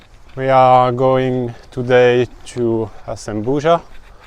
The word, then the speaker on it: Azambuja: Normalement, nous allons jusqu'à Asembura. Asembura? This one? Zembuja, the pronunciation. Yeah. So, we are going today to Asembuja.